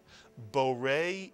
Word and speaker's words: Borei: The first syllable is bo, Mitsuyan, and the second syllable, re, Mitsuyan. Put the word together. Borei is correct, and now the entire phrase, Borei pri hagafen.